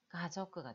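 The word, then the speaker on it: 家族: 그래서, 가족끄. 가족끄. 가족을 얘기하죠? 가족끄. 이 카행이 앞에 붙을 때는 발음이 좀더 약하게 나는 게, 카라고 하자고, 약간, 가족끄, 가족끄. 약간 약하게 나는 게 많거든요. 그래서, 가저끄가 돼요.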